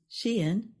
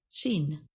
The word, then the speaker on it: Shein: Online fast fashion business Shein is She-in, not Sheen.